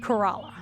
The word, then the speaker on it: Corolla: - Our town is pronounced Corolla.